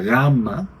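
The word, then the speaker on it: γάμμα: El nombre de la letra de la consonante es la gamma. Es como la g en español cuando es una velar sonora.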